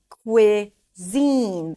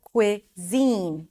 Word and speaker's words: cuisine: Zine, cuisine. The primary stress is on the second syllable. Cuisine, cuisine, cuisine, cuisine.